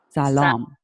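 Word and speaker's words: سلام: all right all right is it Shalom or Salaam Salaam Salaam okay so you gotta be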